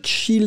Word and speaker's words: chill: le verbe schyle et le verbe chill et on prononce bien les deux ailes regardez c'est prendre du